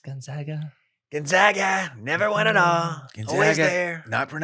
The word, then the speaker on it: Gonzaga: they looked really good we'll see going up gags Gonzaga Gonzaga never went an all G there not pronounced gag Mist how they not won one